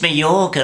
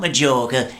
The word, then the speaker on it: Mallorca: Well, I thought perhaps we could go to Majorca. It's Mallorca, not Majorca. You pronounce the J with a Y.